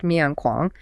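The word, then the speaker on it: 勉强: In Chinese, those exact characters pronounced Myian Kuang mean to force or to be unwilling.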